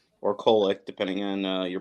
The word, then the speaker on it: Kolek: So moving down, we have the 2 seed Marquette, who now, with the reemergence of a healthy Tyler Kolek, or Kolek, depending on your pronunciation, has blitzed through their first 2 games.